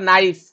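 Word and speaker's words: knife: कोन हो third next question आछो the word नाइफ नाइफ रे कोन के साइलेंट रोज रोज ना नहीं ना सर रोज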